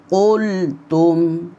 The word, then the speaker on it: قُلْتُمْ: কুল বললে কাফ উচ্চারিত হয়ে যাবে, বলতে হবে কুল, মোটা করে বলতে হবে কুল। ওয়াইয কুলতুম ইয়া মূসা, ওয়াইয কুলতুম